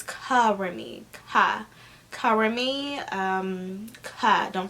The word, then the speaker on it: KaRemmi: you know k-a-r-e-m-m-i um some people they pronounce it as um carry me or curry me but it's covering me cover me um cut